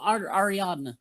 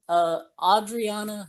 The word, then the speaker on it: Ariadna: Adriana, or let's see how you say it. Ariadna. Ariadna Gutierrez.